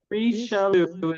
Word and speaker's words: Richelieu: It's not It's not rich. It's ree, I believe. Yes. Yeah. Reeu is how they say it.